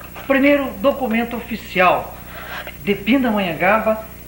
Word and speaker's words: Pindamonhangaba: E, para completar essa parte, direi que em tupi a palavra pindá, a pronúncia mais certa teria que ser Pindamonhangaba.